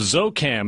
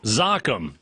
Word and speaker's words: ZOCCAM: she's the CEO of zoo cam is i pronounce that correctly it's welcome zakhm yes but don't worry everyone mispronounced with it zakhm Ezio CCAM do you